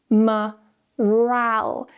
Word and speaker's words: morale: Now we have the weak syllable at the start, so we're going to use a schwa, morale. Now the second syllable here is stressed. Because it's stressed, we now need to give it a stronger vowel.